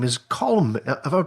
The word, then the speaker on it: Colm: His name is Colm. Have I pronounced that correctly?